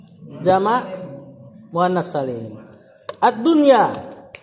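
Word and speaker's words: الدنيا: Ad-dunya. Mudhafun ilaih. Bukan ad-dunyi.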